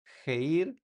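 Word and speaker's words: χείρ: Entonces, tiene sonido de j como en la palabra geir. Jeir, eh, geir, que significa mano en español.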